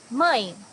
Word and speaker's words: Mãe: Mãe, mother. Here you also have a nasal sound, mãe.